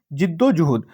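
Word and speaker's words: जिद्दोजहद: इसको, इसका right pronunciation क्या है? जिद्दोजुहद।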